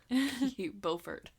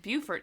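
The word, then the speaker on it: Beaufort: to say bfort but I'm pretty sure it's pronounced bufort uh no bfort bfort yeah aren't we I thought we were the only people who said bfort no bufort is wrong oh buf wrong okay bu's stupid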